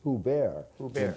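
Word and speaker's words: Hubert: ub ERT okay so i thinking they may have pronounced it who bear in because he's from Lawrence okay so but Burt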